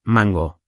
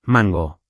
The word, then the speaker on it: mango: Otro error es el acento en mango, que ya dijimos. Repite conmigo, rápido, mango. Otra vez, mango. Vale, suena mejor, ¿sí?